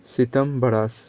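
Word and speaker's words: Śvetāmbara: सबता ब्रह्मास, हाँ उसको सही प्रोनाउंसिएशन होगा सितम्बरास और दिगंबरास। इस दो में जैनिज्म डिवाइड हो गया। किस में? एक है सीताम्बरास, बस सीता का प्रोनाउंसिएशन करो ना, सीता सीता सीता सीता से याद हो जाएगा।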